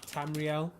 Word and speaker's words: Tamriel: How is it pronounced? Tamriel.